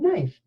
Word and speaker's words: knife: mmm we have n but in this case we are going to use the silent letter pair KN so let's go ahead